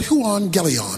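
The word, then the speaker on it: εὐαγγέλιον: The Greek word for gospel is the word euangelion. That's how it's pronounced.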